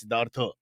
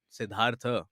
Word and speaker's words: Siddhartha: The McDowell guys came and told me backstage, please, it's Siddhartha. Siddhartha. The has to be properly pronounced, not even like Oh. shorter, not even like Siddhartha.